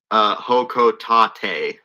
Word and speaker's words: Hokotate: The rocket is pronounced Hokotate. Yeah. You know, realizing that word is a Japanese word, that absolutely makes more sense than I was gonna say, I Hokotate. figured it was Japanese.